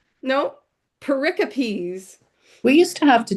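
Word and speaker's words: pericopes: Pericipes. Pericipes. Have you guys heard that word? No. Paricopes.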